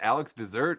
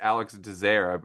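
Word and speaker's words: Alex Désert: You know, I'm so glad that I apparently his name is pronounced Dair. I've always wondered, is it Alex Dessert? Alex Desert. How do you say his name? And it's Alex Dazer.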